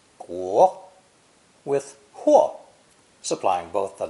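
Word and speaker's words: 国: Only later was huo given clearly drawn boundaries to create the character for country, pronounced guo, with huo supplying both the meaning and the pronunciation clue.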